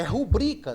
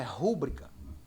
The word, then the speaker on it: rubrica: Ortoép ou a prosódia é rubrica, não é rúbrica.